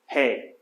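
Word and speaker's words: ἡ: Why am I pronouncing this he? Because of the rough accent mark on the top. It's not- Breathing mark. Breathing, there you go. It's a rough breathing. So it has that H sound.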